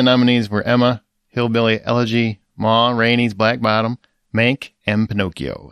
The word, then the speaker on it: Ma Rainey: the oscar went to mourinho's black bottom isn't it ma rainey's black bottom ma yeah did i say it wrong you just said it like a whole word oh my granny's like